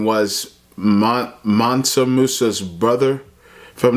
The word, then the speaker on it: Mansa Musa: Mansa Musa.